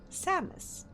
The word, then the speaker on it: Samus: Is it said Samus or same? Samus. Samus. Samus. Okay, I think considering that captions is writing it down as Samus, I think that's correct way to pronounce it.